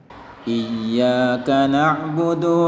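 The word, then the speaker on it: إياك نعبد: wa iyyaka nasta'in Hyorin Iya karena disini ia bertasydid maka dia harus ditekan sedikit dalam Hai ilmu tajwid nya disebut dengan Nabar bacaannya tidak boleh datar tidak boleh Iya kalau dibaca iyyaka na'budu WA iyyaka nasta'in maka salah tapi dia harus dibaca Nabar dengan ditekan iyyaka nabudu wa iyyaka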